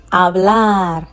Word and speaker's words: hablar: Any word ending with a consonant apart from N or S has the stress on the last syllable.